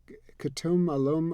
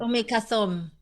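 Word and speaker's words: Umm Kulthum: We were on, driving in this big sun, and I'm gonna mispronounce her name, but Khatum Alum, or it was a Egyptian singer. Umi Kathum.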